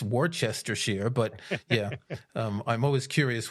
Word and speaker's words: Worcestershire: And heck, I live right next door to Worcestershire, which is pronounced Worcestershire.